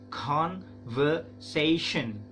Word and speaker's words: conversation: Nah, v-nya ya, gini dibacanya v. Nah, si gigi atas menyentuh bibir yang bawah guys. V. Nah, v-nya, pengucapan v-nya, si gigi atas menyentuh bibir yang bawah. V. Conversation. Conversation. Conversation. Nah, shen-nya itu bukan sen tapi shen.